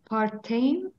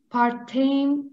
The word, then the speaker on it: partem: So this e, it's like this e. You read it like the Turkish e.